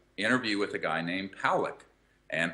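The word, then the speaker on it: Pawelec: see there's an interview with a guy named Pawlek. And Pawlek, P-A-W-E-L-E-C, but it's pronounced Pawlek.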